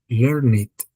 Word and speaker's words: learned: and you pronounce it like learned. Learn it.